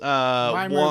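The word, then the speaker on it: Wymer: Weimer like rhymes with Slimer?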